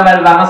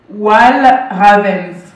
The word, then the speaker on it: Walravens: Ici, vous avez la très jolie Mona Valvarins. Alors Mona, on dit Mona Valvarins, non? C'est comme ça qu'on... Ok, donc je suis totalement dans une fausse prononciation. Walvarens. Vas-y, redis-le toi. Walravens. C'est flamand.